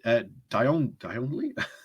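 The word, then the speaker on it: Djanogly: Crosby, James Daly, Gareth Davis, James Davis, Jonathan Dionley, that's how you say it, Ruth Edwards, Nigel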